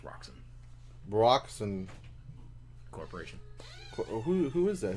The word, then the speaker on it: Roxxon: It's pronounced Roxxon.